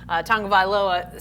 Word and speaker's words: Tagovailoa: There's a hidden N in there. It's Tonga? Tagovailoa. Hidden N. Say it again. I just got Tagovailoa figured out, and then I figured out that was wrong.